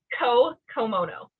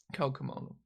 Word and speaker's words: Co Komono: But it's Co Komono. Co Komono.